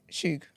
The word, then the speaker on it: Suge: Suge. I always say his name wrong.